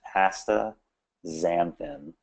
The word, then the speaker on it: astaxanthin: Just pretend the X is a Z. So it's very simple. It's astaxanthin.